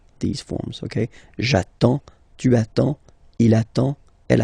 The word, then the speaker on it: j'attends: J'attends. Okay? You get D and S. Well, basically you don't pronounce them.